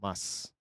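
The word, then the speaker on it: ます: You don't typically pronounce the uh su. you just go mas at least in the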